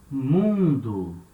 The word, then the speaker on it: mundo: it means world mundo so letter m is at the beginning of a syllable and it has the same sound as letter m in my for example in english that same sound of ma you make with your lips and when the or